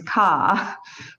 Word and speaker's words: car: So it's ka. There's no R. It's not car. It's ka.